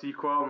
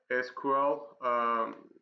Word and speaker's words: SQL: And it's pronounced SQL, not SQL.